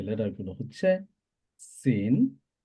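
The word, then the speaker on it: س: গোড়ার সাথে আমরা লাগাবো পেটের সাথে লাগাইলেও সিন প্রোনাউন্স করা যাবে ইনশাআল্লাহ কিভাবে করব লেটারটা হলো সিন সিন সিন সা সাসিসু সিন সায়াস লাং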